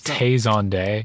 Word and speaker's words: Tay Zonday: He has a name and it is Tay Zonday and it rhymes.